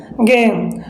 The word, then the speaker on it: game: तो अगर इन तीनों लेटर में से नहीं है तो हम जी का क्या प्रोनाउंस करेंगे? यहाँ पर ग करेंगे। तो यहाँ पर अपना बन जाएगा गेम।